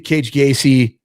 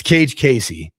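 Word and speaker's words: Kage Casey: Gayy I always say Cage Gayy. It's Cage Casey. And I always say that because it's weird that he he has a K and a C, but they both do the C thing.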